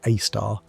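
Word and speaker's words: Sagittarius A*: The Milky Way's central black hole called Sagittarius AE, pronounced AAR, is relatively modest by super massive standards at about 4 million solar masses.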